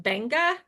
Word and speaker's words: Beqa: I've been calling it Beekqua for so long, but it's pronounced Banga.